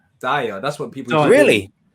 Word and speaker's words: Diyar: But that's how you pronounce, you can say Diyar. Diyar, that's what people do.